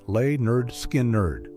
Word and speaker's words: Lynyrd Skynyrd: Soon afterward, Lynyrd Skynyrd released their debut album, pronounced Lay-Nerd Skin-Nerd.